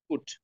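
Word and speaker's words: put: আচ্ছা, এটা উচ্চারণ করেন পুট, পুট। আচ্ছা, এইটা উচ্চারণ করেন, বাট। তাহলে পি এর পরে ইউ আসলে আপনি পুট বলছেন, কিন্তু বি এর পরে ইউ আসলে কিন্তু বুট বলছেন না।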